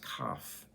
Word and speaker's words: Kaf: The letter is pronounced Kaf, and it means to bow before, to come and bow before a king, in a position of being humble before God.